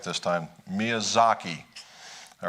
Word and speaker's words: Miyazaki: Miyazaki.